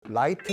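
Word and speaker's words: Wright: 많은 분들이 이제 라이트 형제 라이트 형제도 잘못된 발음이죠. 라이트 형제입니다. WR 발음. 심지어 이런 말 하시는 분들이 계세요. 라이트 형제. 정말 빛의 영감을 받았기 때문에 라이트 형제가 아닌가? 아, L 아니라 WR 쓰다 할 때 그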